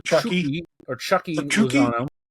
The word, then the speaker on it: Chucky: Lozano, more commonly called Chucky or Chucky Lozano. Chuki. Okay. Well, in in Spanish it's Chuki, I guess.